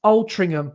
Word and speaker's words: Altrincham: And it says, Brett, Altrincham is pronounced Altrincham with like a G instead of a C.